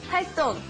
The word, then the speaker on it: 활동: It's spelled 동, but it's actually 똥, like when you go to the bathroom. 똥, okay? 활동.